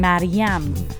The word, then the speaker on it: Mariam: name, I answer them with the exact Persian pronunciation with the second syllable stressed how it's supposed to be. Like as in Mariam.